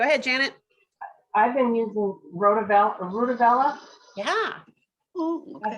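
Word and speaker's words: RutaVaLa: for sleep go ahead janet i've been using rudabella yeah that's how you pronounce it yep and and that is almost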